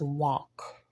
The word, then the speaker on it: walk: bu and the word walk the L is definitely silent we don't say walk at all it's just all this a l in the middle this is all so it's walk and the L is